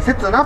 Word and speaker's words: 雪那: の刹那にの刹に雪で、刹那と読みます。